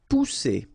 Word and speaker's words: pousser: Pousser. Alright, remember one vowel, and then double S here. So the sound that you should produce is really strong. It's s, okay? Pousser.